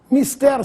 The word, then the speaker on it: mister: corretas Mister ou Mister Mister significa necessário e deve ser dito com essa pronúncia sem acento quando alguém